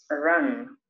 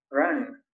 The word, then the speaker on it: run: En inglés se pronuncia run. Run. Run. Se escribe run, pero se lee como una A.